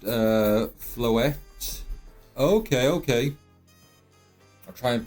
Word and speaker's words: Floette: It's pronounced Floette.